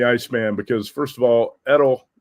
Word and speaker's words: Edel: I call him the Iceman because first of all, Edel rhymes with Chuck Liddell and he also looks like Chuck Liddell, the Iceman from the UFC.